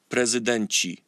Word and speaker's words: prezydenci: In Polish you would say prezydent, prezydenci. See before, so ty goes to chi.